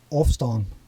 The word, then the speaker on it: Ôfstân: That's actually in Frisian. I don't speak Frisian, but it's Ôfstân.